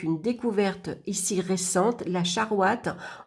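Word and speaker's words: charoïte: Donc une découverte ici récente, la charouate, on dit donc charouate, elle se prononce comme ça, charouate, a été découverte dans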